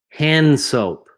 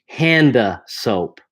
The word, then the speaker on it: hand soap: Hand soap. Hand soap. I'm not really pronouncing the D here. It's almost silent.